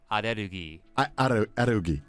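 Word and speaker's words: アレルギー: It sounds dumb, but allergy in Japanese is pronounced arerugi. Arerugi.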